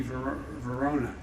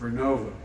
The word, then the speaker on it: Vernova: Arcosa makes wind towers that's going to go into turbines made by GE Verona. Excuse me, I mispronounced it. Vernova in Florida, New York.